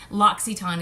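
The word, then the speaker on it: L'Occitane: all in the airports in malls and such locks Etan is how you say that and locks Etan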